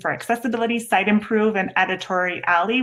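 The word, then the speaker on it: Editoria11y: And then these are the two modules that I mentioned for accessibility: Site Improve and Editori Alley, which is spelled at the end. It's A11Y.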